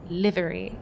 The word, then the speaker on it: Livery: maybe this will work I think you said it right Livery like a liver you watch as the